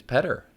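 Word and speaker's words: Peder: who painted like, it's Petter.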